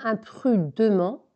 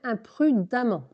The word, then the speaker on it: imprudemment: Cette femme, on avait vu que femme, c'était un E, mais ça se prononçait A. Cette femme traverse imprudemment. Tu vois, là, c'est un E. On ne dit pas imprudemment, mais on dit bien imprudemment.